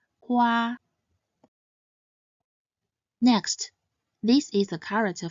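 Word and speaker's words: 花: It is pronounced as Hua. It consists of the initial He and the compound final Wa. He, Wa, Hua. This character is pronounced in the first tone. Hua, Hua.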